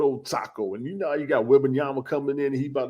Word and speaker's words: Wembanyama: Yeah, Wembanyama. Yeah. Wembanyama.